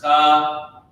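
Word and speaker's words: חטא: This is how you pronounce it. This is cha-ta-ah. A-H-T-H. It means sin or sinful.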